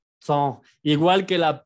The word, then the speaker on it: temps: La P y la S de temps no se pronuncia así. Me enojo porque siempre hacen este error. No se vayan a tromar, pero si no se pronuncia eso, se pronuncia temps.